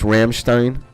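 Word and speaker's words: Rammstein: Yeah, it's pronounced Ramstein.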